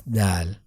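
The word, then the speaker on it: دال: between these two letters when we pronounce Dal we put the front of tongue attached to the top of the upper teeth and touch to Heart palate and the tongue wits is normal and the airflow is from the front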